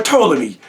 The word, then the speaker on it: Ptolemy: The P is silent. Like the G is silent in lasagna. Shout out to Lil Wayne. The Ptolemies. P-T-O-M-O-L. However, Ptolemies or Ptolemy. P-T-O-L-E-M-Y.